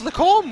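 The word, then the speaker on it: Les Combes: It's Lacombe. What did you call it again, Lorenzo? Lacombe?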